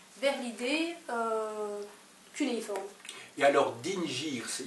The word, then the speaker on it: dingir: Que l'on prononce dingir. Dingir, voilà, exactement. Ah oui, ça, c'est un seul signe. C'est en sumérien, ceci. Oui, mais c'est un seul signe, mais il y a quand même deux syllabes dans dingir.